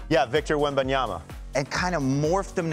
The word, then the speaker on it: Wembanyama: So I tried to morph CeeDee Lamb, and Robert, you gotta help me with the pronunciation. Wembanyama? Yeah, Victor Wembanyama.